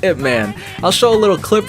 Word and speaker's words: Ip Man: Is that how you say his name? Or IP Man? I believe it's Ip Man.